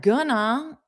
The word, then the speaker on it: gonna: But I want you to understand that gonna is not actually a word in a dictionary. It's simply a pronunciation change that takes place naturally. And it takes place naturally because it's easier for our mouth to pronounce.